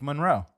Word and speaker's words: Monroe: Like it's just and it's muhn like in terms of the you know pronunciation guide like Marilyn Monroe. Okay. So I'll start saying uh Blake Monroe.